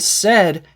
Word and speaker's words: said: said and said and said has the same vowel sound as red or bed also when we are